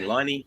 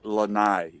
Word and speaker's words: Lene: Liney? No worries, bud. No, It's Lene, not Lane.